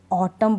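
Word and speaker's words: autumn: कि एम एन है तो यहां पर एम एन में एन का उच्चारण नहीं होता किसका नहीं होता एन का जैसे ऑटम पढ़ रही हूं मैं इसको ऑटम यानी म पे ही यह स्पेलिंग रुक जाती है अब मैं इसको ऑटम न नहीं इसको प्र लास्ट वाला जो न है एन है ना उसको प्रोनाउंस नहीं करूंगी नहीं पढ़ूंगी अब यहां पर कॉलम है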